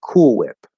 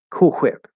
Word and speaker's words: Cool Whip: on things it's and we say cool whip so it's cool with the l colored ooh cool and then whip cool whip cool whip but he says it cool whip cool quip and it's like i don't think any american would ever say it that way and so the dog